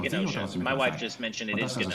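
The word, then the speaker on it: Gnosia: I think it's just Nosha. Like I think the G is silent. Well, it had katakana below it, and it was definitely a hard G in the kana.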